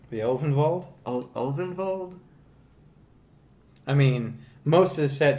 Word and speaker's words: Ulvenwald: The Elvenwald? Ulvenwald? I mean, most of the set takes its cues from Germanic So it's Ulvenwald.